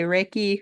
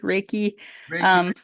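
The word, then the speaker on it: Reiki: even saying it right some people say reiky raiki yeah I get it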